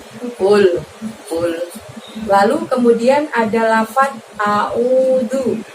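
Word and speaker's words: أعوذ: A di situ kamu keluarkan hurufnya dengan membuka mulut kamu ya teman-teman, dengan membuka mulut kita. A. Ul. Nah pada saat karena pakai huruf ain di situ mengeluarkannya cukup dari tenggorokan, maka tidak ada gerakan mulutnya.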